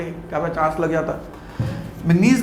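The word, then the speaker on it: manganese: Mn मतलब मैंगनीज, एक होता है मैग्नीशियम, एक होता है मैंगनीज, इनकी प्रोनाउंसिएशन और सिंबल अलग है मेरे बच्चे।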